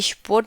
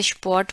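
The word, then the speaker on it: Sport: और उसके बाद है स्पॉट, स्पॉट, स्पॉट जो है स्पोर्ट की तरह ही बोला जाता है, हालांकि स्पोर्ट नहीं बोलते, स्पॉट बोलते हैं, औ का थोड़ा सा उच्चारण रहता है, स्पॉट।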